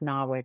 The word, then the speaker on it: NAWIC: the great work of NAWIC, for example, which is pronounced Nawick in Australia just to make things confusing.